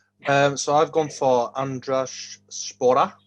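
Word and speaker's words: Andraž Šporar: so i've gone for andres spora which i'm told is the right pronunciation uh he's been on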